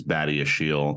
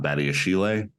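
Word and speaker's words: Badiashile: pronounce badia Shield but I believe it is badia Shield not badia Chile just as a note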